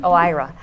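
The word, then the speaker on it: OIRA: need to do is know how to pronounce that right and Mark did Oh IRA there a lot of ya know your IRA but yes Oh IRA so it's a small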